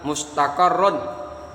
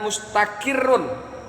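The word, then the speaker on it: مستقر: Perhatikan kata-kata mustaqarrun. Mustaqarrun ada yang membacanya mustakirun, jadi qafnya kasrah.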